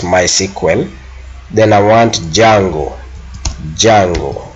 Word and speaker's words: MySQL: end my SQL uh which is normally pronounced as my sequel then I want Django